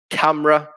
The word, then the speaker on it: camera: with a silent l camera with a silent e design there's a silent